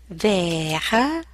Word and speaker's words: vers: Vers. You see, you don't hear the S at the end, it's not pronounced.